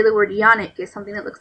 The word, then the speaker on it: yoni: The Yoni and Lingam Massage. Yoni, pronounced yoni, is the Sanskrit word for the vagina.